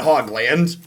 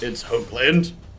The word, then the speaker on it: Hoogland: It's definitely not Hogland. Or Hoogland. It's Hoagland. Long O sound. If it was spelled phonetically, it would be spelled H-O-A-G.